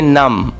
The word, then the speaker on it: numb: अब देखें यहाँ पे है NUMB, अब B जो है इसमें साइलेंट है तो इसको हम प्रोनाउंस करेंगे नम।